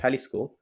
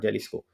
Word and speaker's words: Jalisco: we are discussing about halisco so I have written also in Hindi the pronunciation so the right pronunciation Isis not Jalisco so maximum variety of